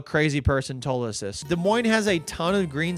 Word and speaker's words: Des Moines: expecting when I heard Des Moines, Iowa. It's also my favorite capital that has 2 S's that are both silent. That's right, it's not pronounced Des Moines.